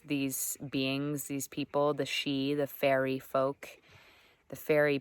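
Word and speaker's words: Sidhe: but it's called she it's pronounced she but it's spelled like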